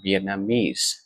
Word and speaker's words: Vietnamese: chính xác tuy nhiên thì khi mà mình đọc là Vietnamese thì trong ông Chính thường sẽ rơi vào